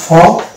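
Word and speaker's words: faux: এটা শব্দ হচ্ছে ফ, এখানে এক্স অনুচ্চারিত থাকছে, মানে সাইলেন্ট থাকছে।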